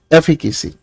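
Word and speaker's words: efficacy: एफिकेसी, इसकी pronunciation है बच्चे एफिकेसी।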